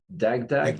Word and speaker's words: Dagdag: But you are watching GroupBy, and the next speaker is Ron Dagdag. Is that the correct pronunciation?